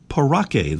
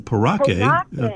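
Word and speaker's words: parakeet: Well, I don't think I can pronounce it correctly, but a common paraquet. That's pretty good. I think most folks say parake, the common parake. Parake Okay. is what we usually hear, but the important thing is that is the bird.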